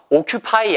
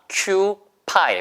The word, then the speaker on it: occupy: occupy 아니에요. 아예요, 발음이. 미국식 발음은 occupy. 보세요. occupy. occupy예요.